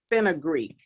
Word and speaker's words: fenugreek: yourself fenugreek seeds say it one more time fenugreek um it's spelled f-e-n-u g-r-e-e-k seeds did you get that